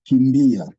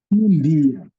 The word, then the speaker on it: kimbia: Yeah, we have a word like Kimbia. Kimbia.